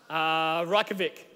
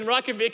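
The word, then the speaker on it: Reykjavík: 120,000 now Andrew King told me how to pronounce this between services raka Vik yeah live in Reykjavik and all the statistics of the past 50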